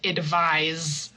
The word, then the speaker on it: advise: So, for example, this one here, um, advice and advise. So, that's a good example of how the noun advice uses the s sound and the verb to advise someone uses the z sound.